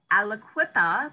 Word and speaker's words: Aliquippa: so you moved from and i i can't pronounce the name of that city say it again elliquippa aliquippa pennsylvania to columbus ohio and what took you